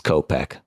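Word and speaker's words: Kopech: name you said copek Michael copek yeah it's copek that's what I said okay but yeah you're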